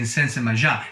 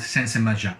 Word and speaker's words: Sensemayá: The opening bars, for instance, can be mapped to the word Sensemayá, with the accent on the ya emphasized by the claves.